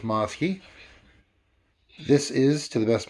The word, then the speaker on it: Mosky: beatbox preamp by maaske I've heard some people pronounce Atmos key or most guy I'm pretty sure it's mouse key this is to the